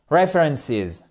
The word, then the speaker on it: references: ce sont les references je vous ai mis la phonétique ici accentuation sur la première syllabe references requ littéralement référence disponible